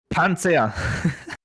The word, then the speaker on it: Panzer: do you know what a lot of the german cards i'm pronouncing like with an english accent to make it easier understandable like the panzer so what what's panzer in true german panzer anza yeah so well i'm i'm being a little loud and a little bit angry but you usually you you're pronouncing this a little harder yeah yeah like that for example white s